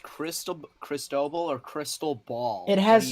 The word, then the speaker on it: Cristobal: It's pronounced crystal ball. No, Nathan. it's not. No, it's not. Yes, it is. No, it's not. No, it's not. Chat, is it pronounced Cristobal or crystal ball?